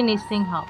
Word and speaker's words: নৃসিংহ: নেব দেখুন এখানে লিখা আছে জয় নিঃসিংহ শ্রী নিঃসিংহ এখানে দেখুন দন্তস আছে দন্তস এর শুদ্ধ সংস্কৃত উচ্চারণ হবে ইংরেজি স এর মত অর্থাৎ আমরা